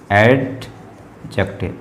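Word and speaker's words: adjective: ठीक, यहाँ पे ये एडजेक्टिव है, एडजेक्टिव, इसे एडजेक्टिव पढ़ते हैं, डी वर्ड साइलेंट होता है।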